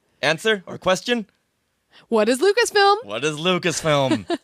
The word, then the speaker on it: Lucasfilm: What is Lucasfilm? What is Lucasfilm? If he had said, what is Lucasfilms, like so many people do, he probably would have